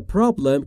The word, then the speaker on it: problem: و تلفظ problem رو دقت بفرمایید دوستان، problem نیست. Problem بین P و R صدایی وجود نداره، ما هم صدایی نباید اضافه بکنیم.